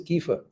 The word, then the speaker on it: kefir: very important thing and that is known as Kiefer it is written as kefir written as kefir but it is pronounced as kefir now kefir comes from many sources so any